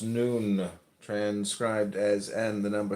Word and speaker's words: Nun: None pronounced noon, transcribed as and the number 50, meaning fish, the imaginative intelligence.